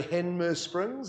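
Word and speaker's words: Hanmer Springs: right there in henmus springs note i say henmus springs it's the correct pronunciation isn't it in the horonui district and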